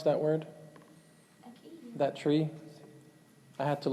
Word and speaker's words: acacia: Anyone know how to pronounce that word? Acacia. That tree? I had to look it up. It's pronounced acacia.